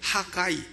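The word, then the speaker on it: Haggai: 하가이, 영어로는 하가이라고 발음하는.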